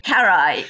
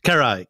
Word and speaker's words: Carrhae: Am I pronouncing it right? Carrhae? Carrhae. Carrhae, Carrhae.